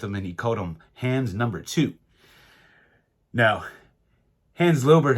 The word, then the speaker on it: Hans: corrects me I understand that the name hands h-a-n-s is usually pronounced Hans most people pronounce it Hans but I did hear hands himself speak his own name and he called himself hands now hands over was a neighbor and a